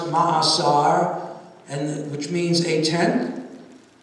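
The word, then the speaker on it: מעשר: it begins with the tithe in hebrew it's pronounced mahasar and which means a ten and tithing is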